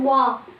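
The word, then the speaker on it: は: is hiragana ha, but in hiragana alphabet it is hiragana ha, but further we will learn it as wa. it will be pronounced as va, which becomes particle.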